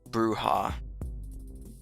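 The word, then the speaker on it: bruja: Um Jen says bruha equals a witch. Okay, that's how you pronounce it. Bruha, not brea.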